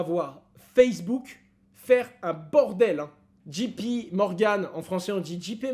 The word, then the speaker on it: JP Morgan: c'était un peu gênant on dit jp morgan et pas chiper morgan sachez le les français tiennent à leur prononciation avant de zoomer sur